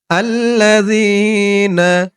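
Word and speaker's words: الَّذِينَ: পরে ইয়া সাকিন আর জালের উচ্চারণটা একদম নরম হবে আল্লাজিনা আল্লাজিনা আমানু আক আলিফ টান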